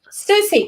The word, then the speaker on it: Siouxsie: Susie. Versus, really? Susie and the Banshees. Yes, Susie. Okay, number 46, "Red Light" by Susie and the Banshees from 1980.